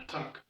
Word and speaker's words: ATT&CK: For the attack, the name attack is spelled quite interestingly. We have an A, double T, then an ampersand symbol. Ampersand, for those who are not in IT, is the and symbol, the and symbol.